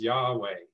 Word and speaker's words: Yahweh: y h w h scholars now agree it was probably pronounced or could be pronounced as yahweh i'm not going to